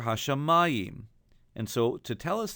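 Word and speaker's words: השמים: In this case, we don't say Hashemayim, but rather Hashemayim. And so to tell us that, they've added a duplicate trope mark, a duplicate Pashta, on the mem. So we sing Hashemayim.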